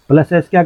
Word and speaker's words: ASCII: इसको प्रोनाउंस करते हैं एस्की के नाम से हम इसको प्रोनाउंस करते हैं।